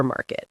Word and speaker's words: supermarket: And the word supermarket, the stress is on the sue. Super supermarket.